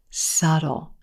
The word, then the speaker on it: subtle: times even native speakers put this sound in there and say subtle you don't need it subtle subtle if something is